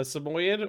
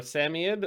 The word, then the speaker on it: Samoyed: Yeah, she's, depending on your philosophical bent, a Samoyed or a Samoyed. I've heard people pronounce it multiple different ways.